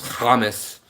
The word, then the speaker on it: hummus: Eat your humus, your hummus, not your humus. If you say it like my family in Israel, then it's hummus.